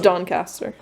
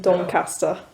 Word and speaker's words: Doncaster: Doncaster." Doncaster. Doncaster. Yeah. You've got to say it like you're a peasant.